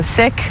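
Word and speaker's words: Sikh: Uh chances are if you meet somebody who's Punjabi they're also sik which is often mispronounced as sik.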